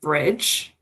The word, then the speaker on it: BRDG: Like Joe said, my name is and I founded the firm Bridge, which is spelled BR O R DG but pronounced like a bridge and the concept is